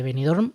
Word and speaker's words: Benidorm: la ciudad costera de benidorm ojo como he pronunciado la m de benidorm esto no se suele Escuchar mucho Silvia poeta estadounidense pasa